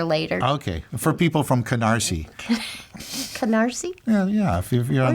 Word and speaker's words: Canarsie: Oh, so that's not a KN word. No, it's not, but it sounds like one.